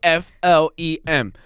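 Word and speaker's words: phlegm: It should be f L E M. Flem. I don't need a G. I don't need a PH because we all hate silent letters equally.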